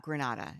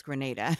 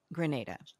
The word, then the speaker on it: Grenada: in Grenada and um which is not Granada it's Grenada we know that pronunciation